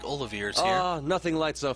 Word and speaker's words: Olivier: Also, I'll have you take care to say my name properly. I am the drifting poet and seeker of love, Olivier. Okay, now they're doing the French pronunciation, which, yeah, it's inconsistent.